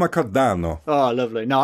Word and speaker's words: Cardano: I think he's Italian he is Italian J cardano oh lovely no like J cardano well it was seized upon by his Relentless